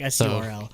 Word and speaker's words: Surl: It's Sol, only one. It's Sol in it's Korean. Sol. Sol. But, okay, but it's spelled like S-U-R-L.